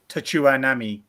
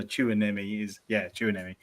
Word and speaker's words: Tchouaméni: Tchouaméni is how I pronounce it. So Tchouaméni.